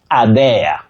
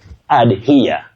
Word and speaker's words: adhere: Now the third one on our screen, dear viewers, many people innocently say adhere or adhea. Please don't use that sound d. Adhea, no. Adhea, no. You simply say adhere, to here to something.